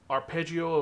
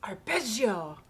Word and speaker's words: Arpeggio: Then we have Arpeggio of Blue Steel Volume 20. You said it wrong. It's Arpeggio of Blue Steel.